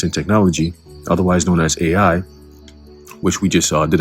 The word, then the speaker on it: Ai: And when you go into that word AI, okay, or I which is pronounced, but we just go go with AI, it says here, heap of ruins, right?